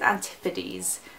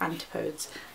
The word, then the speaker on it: Antipodes: I think you say it, I used to say it wrong. I think it's Antipodes. I used to say like Antipodes.